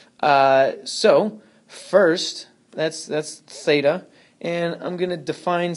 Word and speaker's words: theta: uh hopefully you've seen it before it's called Theta that's how you pronounce it Theta uh and it's a Greek letter it's just